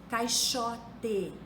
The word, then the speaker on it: caixote: se fosse o ch caixote é escrito com x mas se pronuncia como se fosse o ch máximo máximo se escreve